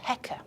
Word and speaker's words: Heka: It's basically a crook, a scepter, and that's written with two symbols, and that's pronounced Heka.